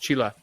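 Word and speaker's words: चीला: now that I think if this is their home food, they're happy to say like, hey, listen, Roger, that's pronounced Chila.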